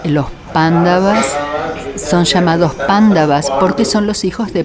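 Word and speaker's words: Pāṇḍava: otra mañana isra mañana los occidentales lo pronunciamos así pero es debido a la ausencia de familiaridad que pronunciamos mal los nombres para nosotros es gracioso pero estos bandadas son pándavas cuando significa blanco son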